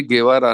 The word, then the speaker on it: Guevara: लोग स्पेनिश जानते हैं उनको मालूम है पीछे गेवरा नाम है ऐसी जो पिकासो की मशहूर आ